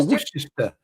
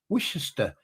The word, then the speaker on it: Worcester: It's like like a lot of Americans can't say worester. They go worister. Worcester. It's Worcester. Worcester sauce. It's got way too many syllables in to be worester.